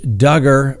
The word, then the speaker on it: Duggar: and gentlemen that's right josh duggar rhymes with hugger as you all know